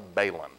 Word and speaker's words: balun: First off, it's a balun. It's balanced to unbalanced. That's not a balun. So it's pronounced balanced, unbalanced, balun.